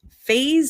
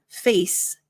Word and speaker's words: phase: Now notice that for the pronunciation, the S sounds like a Z. So it's not face, and the PH sounds like an F. So it's not face out, but phase out.